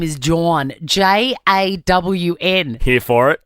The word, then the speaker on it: Jawn: Now, this guy's name is Jawn. J-A-W-N. Here for it. It's John, phonetically spelt.